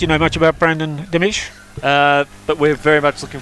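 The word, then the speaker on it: Dimech: And Chris, Brandon Dimich, D-I-M-E-C-H, is that the correct pronunciation?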